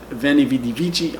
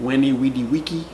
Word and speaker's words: veni, vidi, vici: I prefer the ecclesiastical pronunciation. I prefer the "V"... I prefer... saying "veni, vidi, vici" instead of (what sounds like) "weni, widi, wiki", which sounds strange to me.